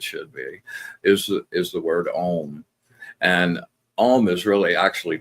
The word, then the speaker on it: Om: When you do Om, and it's 3 syllables, AUM. So it starts with a Om. So you've got the A, you've got the U. That sounds O-ish, and then out into the M.